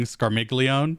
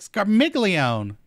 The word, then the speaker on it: Scarmiglione: doing um yeah i'm i'm so used to being scarmiglione and really pronouncing that g but it's apparently hard silent with the italian so i'm trying to